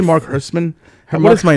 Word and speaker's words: Herschman: I think it's pronounced Herschman. Herschman. Okay. What? Yeah, say it with me, Herschman. Herschman, the Jewy German way to say it.